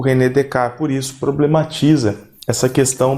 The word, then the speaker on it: Descartes: Lá no século XVII, um filósofo moderno, racionalista, o René Descartes, francês, por isso que a gente não pronuncia os S's, né?